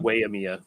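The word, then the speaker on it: Waimea: why emea i think w-a-i you're supposed to pronounce that way so um so like way emea i guess is what it is um but uh yeah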